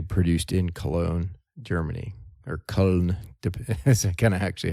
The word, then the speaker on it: Köln: unless it's actually produced in Cologne, Germany, or Köln. That's kind of actually how they pronounce it.